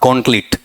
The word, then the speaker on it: gauntlet: मैंने कहा था कि इसका उच्चारण ढंग से करना, गॉन्टलेट, गॉन्टलेटिव भी कर सकते हो, गॉन्टलेट, GAUNTLET, गॉन्टलेट। अगला इसमें जैसे गौरव वाला, GAUN और फिर TLET, गॉन्टलेट।